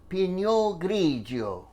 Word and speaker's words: Pinot Grigio: cup of white wine Pinot Grigio you have to say it like that Pinot Grigio one and a half